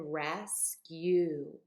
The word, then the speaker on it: rescue: new sound as in rescue when you rescue someone you help them I'm making a long u sound here not an O sound so just a little